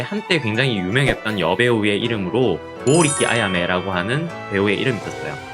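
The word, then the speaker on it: 剛力: 역도산의 일본 발음은 리키도잔이라고 하는 발음이 되고요. 지금은 잘 보이지 않는데 한때 굉장히 유명했던 여배우의 이름으로 고우리키 아야메라고 하는 배우의 이름이 있었어요.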